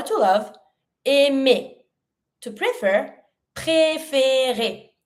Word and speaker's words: préférer: To prefer, préférer. Every time you have the E with your accent, you have to pronounce it. Préférer.